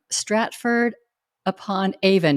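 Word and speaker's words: Stratford-upon-Avon: of forgiveness Jeff is with us today from Stratford upon Avon did I pronounce that right you did and you're in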